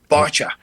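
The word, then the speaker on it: Báite: And you can go to Newport Beach Film Festival and this film Spell it for those who are Irishly challenged like me. B A I T E Bacha Bacha and you're going to see this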